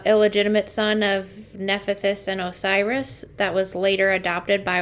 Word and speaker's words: Osiris: known as also the god of death like orsus I can't say his name correctly Osiris Osiris thank you yeah um but those two